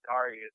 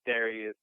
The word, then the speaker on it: Darias: a u so and people always pronounce my name wrong too people call me darus sometimes I try you know I try to let people know you know it's Darius not darus hey and that's what's